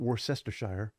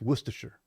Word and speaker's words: Worcestershire: workshop there you go we need to tell people how to say it's not worth chestershire all right it's worcestershire all right worcestershire workshop and then